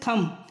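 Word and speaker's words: thumb: कोई सा भी र्ड जहां एम के बाद में बी आए तो उसमें बी साइलेंट रहता है चलिए एग्जांपल देखते हैं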